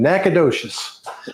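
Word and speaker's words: Nacogdoches: I can't pronounce that. I'm going to put it up here. He's in Nacadocious.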